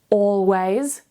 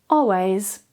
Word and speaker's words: always: Always. Always.